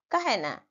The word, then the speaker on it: कहना: जब ह होता है ह के पहले वाला वर्ण के साथ ए प्रयोग होता है उच्चारण के समय आ कौन सा स्वर